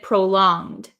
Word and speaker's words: prolonged: prolonged prolonged so uh in the word prolonged um we don't say it as a hard G it's not prolonged prolonged but um it's the same like if you know like ing so or the word long l-o-n-g we don't say long but we say long long so we're